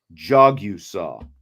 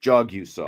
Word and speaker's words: Jagusah: Jagusah. Okay. So like I'm jogging down the street. Jagusah. And then I see you saw.